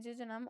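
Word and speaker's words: jejunum: इसको हम लोग प्रोनाउंस करते हैं जम और उससे अगला जो पार्ट है उसे हम लोग कहते हैं जीजनम।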